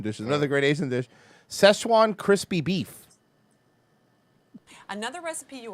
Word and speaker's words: Szechuan: But before I cut It's actually that, pronounced Szechuan. There's a Z. There's a Z in there.